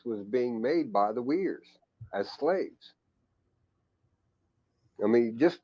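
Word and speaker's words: Uyghurs: genocide against the the weirs that's that muslim group right no it's uh well yeah yeah it's like u-u-i-g-h-e-r or something but it's pronounced weirs yeah i saw somebody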